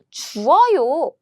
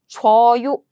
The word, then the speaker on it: 줘요: 주어요, 주어요. It means I give, you give. 주어요, 주어요. And this can be shortened as 줘요, 줘요, 주어요. When you pronounce it quickly, it becomes 줘요, 주어요, 줘요, 줘요.